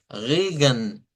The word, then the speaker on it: Regen: Y es otra peculiaridad del idioma Deutsch que cuando las palabras terminan en E, con N o E con M, se omite el sonido de la vocal. ¿Ve? Y por lo general solo vamos a escuchar el sonido de de la N al final.